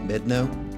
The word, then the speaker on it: Medano: I wasn't sure how to pronounce the name of the pass, so I verified with the park ranger that it's pronounced Medano.